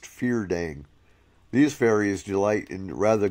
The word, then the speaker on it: Fyrdarig: Next is the Fyrdarig, pronounced Feardang.